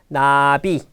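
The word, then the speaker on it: 나비: Nabi.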